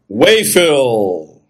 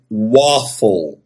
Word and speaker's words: waffle: deve estar pensando aí wafel Ah muito bem é uma palavra em inglês que na verdade se pronuncia waffle eu continuo dizendo waffle